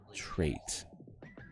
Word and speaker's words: trait: Trait. It rhymes with great.